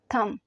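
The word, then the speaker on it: thumb: अंगूठे को इंग्लिश में थम कहते हैं थम बी जो है ये साइलेंट हो जाएगा थम शहादत की उंगली जो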